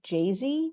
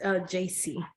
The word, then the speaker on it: JC: It's really nice to meet you, Jay-Z. Am I saying that right? It's pronounced JC.